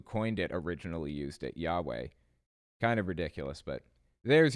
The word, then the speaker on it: Yahweh: The name is pronounced Yahweh, not Jehovah, but they'll claim that Jehovah is the modern English translation of Yahweh.